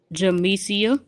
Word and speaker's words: Jamesia: Look, pronounce your name. Jamsia.